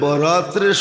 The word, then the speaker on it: বরাত: উর্দুতে আরবিতে একরকমই লেখে কিন্তু উচ্চারণে ডিফারেন্স একটা হলো বরাত আরেকটা হলো বারাত একটা হলো মুক্তি একটা হলো চলন হুম মানে আকারের পার্থক্য আর কি আকারের পার্থক্য